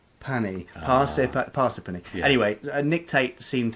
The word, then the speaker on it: Parsippany: wonderful time, and they taught us how to pronounce the name of the place. Yes, which you still can't say now, can you? Parsippany.